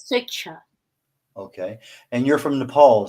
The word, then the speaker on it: Swechcha: Pronounced as Switcher.